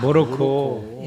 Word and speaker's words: 모로코: 모로코. 모로코, 마로코. 모로코였습니다. 그러니까 이게 아마 현지 발음에 이게 더 가까울 거예요 아마.